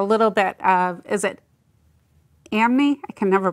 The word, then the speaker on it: anime: Because there seems to be like a little bit of, is it anime? I can never pronounce it.